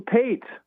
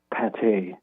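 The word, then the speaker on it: pâté: I'm like 12 and I remember saying I'll have some paint, you know, not knowing how to pronounce it. And the partner's wife, she she kind of looked down and quietly said, "Pate."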